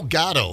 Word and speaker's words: Gatto: Joe Gatto, is that how you say it, you guys? Correct. Gatto?